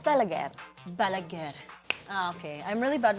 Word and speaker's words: Balaguer: What's the pronunciation? It's Balaguer.